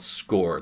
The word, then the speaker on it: SCOIR: Um, sir R is how it's spelled, but it's pron it's the the you say it score like the score of the game is this.